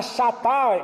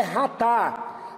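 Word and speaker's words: חטא: Outros termos aqui, ratá, aí tá chatá, né, porque é escrito dessa forma, mas a pronúncia no hebraico é ratá.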